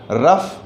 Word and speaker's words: rough: इसी तरह से अगर हम ROUGH को देखें तो यहाँ पर भी OUGH का जो प्रोनाउंसिएशन है वो अफ है। रफ, टफ, इनफ, ये तीनों शब्दों का जो OUGH